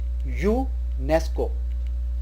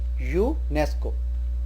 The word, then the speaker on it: UNESCO: This word is spoken as UNESCO. Focus here, UNESCO. Because it starts with YOO pronunciation, we say a UNESCO heritage site.